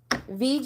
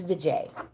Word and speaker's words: Vijay: VJ is next. Or I always say it wrong. Vijay. It's Vijay.